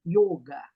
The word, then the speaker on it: yoga: como muita gente fala yoga também não é errado que a gente tá no Brasil porém se você f for pro lado do do yoga o correto seria yoga com som fechado y